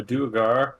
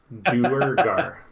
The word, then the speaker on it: Duergar: Well, came to tell you that we captured a Duergar and some... that's what they're called, right? Am I saying it right for the first time? Duergar.